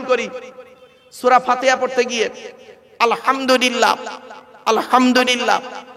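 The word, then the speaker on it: الحمد لله: সূরা ফাতিহা পড়তে গিয়ে আলহামদুলিল্লাহ আলহামদুলিল্লাহ এ গলার ভেতর থেকে এটা উচ্চারণ করবেন হায় হুটি হবজ নয়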